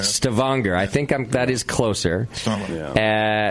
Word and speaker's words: Stavanger: It's in Stavanger. I'm probably saying it wrong. Sure. Yeah. Stavanger? Let's go with Stavanger. It's the accent's on the second half. Stavanger.